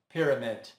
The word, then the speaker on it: pyramid: Não, o estresse está na primeira sílaba, ficando pyramid.